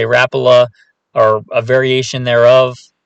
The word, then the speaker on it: Rapala: have is an original rapala some people i say rapala some people say rapula are a variation thereof it's from one of the scandinavian countries if you know exactly